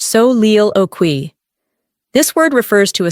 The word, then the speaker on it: soliloquy: Here's one you may recognize from literature: soliloquy, pronounced so-leel-o-qui.